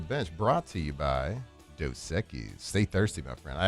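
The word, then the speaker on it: Dos Equis: And let's get to a little Ask the Bench brought to you by Doseekis.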